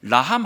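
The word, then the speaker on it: רחם: 극이라는 단어는 히브리어로이 극이라는 단어는 라함이라는 그 히브리 발음을 가지고 있어요 라함 긍휼 제가 오늘 끝날 때까지 이야기할 거니까요 라함 하면 긍휼 극하면 라함 사랑하면 긍휼 라함 하면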